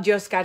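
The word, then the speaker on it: Yoskar: check out josar Sante josar is spelled with a Y because the y in Spanish is pronounced like a j so it's y oos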